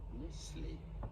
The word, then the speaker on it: Nestlé: Since the name originates from the French-speaking part of Switzerland, this is a French pronunciation. Nestlé is how it is Nestlé.